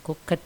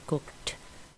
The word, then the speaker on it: cooked: Cooked, bukan cooked ya, tapi cooked. Hampir tidak kedengaran, tapi tetap terasa bedanya.